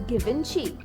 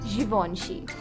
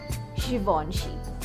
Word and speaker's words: Givenchy: Do you say it as Givenchy? It's Givenchy. Givenchy.